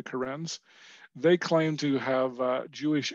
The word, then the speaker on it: Karen: It looks like, when you spell it, it looks like the name Karen, like a woman's name Karen, but they're called the Karens.